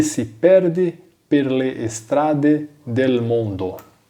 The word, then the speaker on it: strade: As palavras que iniciam com S em italiano, eu não pronuncio o E, né, então eu não falo estrada.